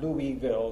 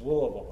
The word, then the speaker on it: Louisville: And I would just emphasize to Louis that it's not Louisville, it's Louisville. That's how we pronounce it there.